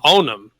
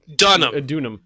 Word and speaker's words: Dunham: That's a D. Oh, it is. Oh, yeah. So Dunham. Dunham. Done. All right, I thought it was an O.